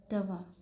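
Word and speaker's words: toi: You English में और इसकी प्रोन्सिएशन होती है दवा ओके।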